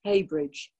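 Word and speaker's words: Heybridge: bridge over the blackwater highbridge pronounced haybridge haybridge too has evidence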